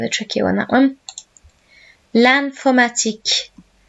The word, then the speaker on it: l'informatique: L'informatique. So notice in French, IN is pronounced like AN.